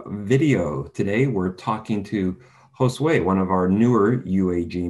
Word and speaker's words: Jhosue: the way okay so my name is josue it's how it's pronounced but um my nickname